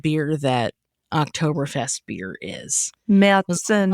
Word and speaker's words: Märzen: Märzen. Likely... Is that how you say it? If you're in German. Okay. But Marzen works great. In fact, if you're ordering it at an American restaurant, I highly recommend calling it Marzen, because the waitress might